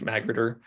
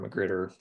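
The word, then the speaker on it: magrittr: and this is the package magritter or mcgreeter people put different syllables in this word but it's the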